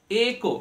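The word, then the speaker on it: echo: ইট সাউন্ডটা হয়ে গেল একো নট ইকো আমরা অনেকেই ভুল প্রোনাউন্স করে থাকি যে ইকো হচ্ছে নট ইকো একো একো ঠিক একো মানে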